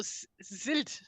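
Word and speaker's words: sild: it just existed those did you say Sid as in CID no zil oh Z like like s e l d oh oh oh okay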